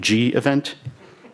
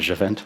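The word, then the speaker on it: gevent: but um I'll go with the most impossible pronounciation which is adjuvant gev ent G event somebody must have here most now what's the canonical pronunciation G event okay not a sh event okay so today I'd like it to hate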